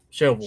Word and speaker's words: Shelbyville: Shovel.